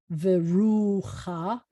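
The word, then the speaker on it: וְרוּחַ: ah vowel underneath it it's called a sneaky pattach and it reverses the pronunciation so you would want to pronounce this as veruha when it's at the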